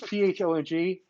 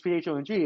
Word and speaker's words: Phong: say it's Phong, and people would think it's spelled with an F, and I'm like no, it's Fong, like phosphoric acid, like pH, and then so it's funny because Marla heard me say that one time, and then she goes, why didn't you just tell them it's like phone?